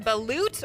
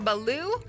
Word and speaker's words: balut: This is one that my Navy buddies have told me about, so you're going to find this overseas, and I believe it's pronounced balut or baloo.